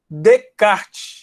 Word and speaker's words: Descartes: sobrenome do matemático francês renê de cá apesar de escrever descartes né esse essa aqui é mudo entraram é renée de cá ele que criou esse